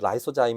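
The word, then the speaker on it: lysozyme: 렌지 입장에서이 단백질 특히 라이소자임 여기는 리소자임이라고 되어 있는데요 이거 사실 발음함은 라이소자임 있니다 어찌됐든이 라이소자임 단백질의 경우에는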